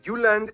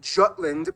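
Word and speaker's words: Jylland: denmark is made of the uland not jutland peninsula that connects to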